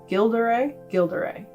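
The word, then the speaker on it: Gilles de Rais: So the first one I have here is The Life and Death of My Lord Gilderay, I think he's French, so you don't pronounce the S's.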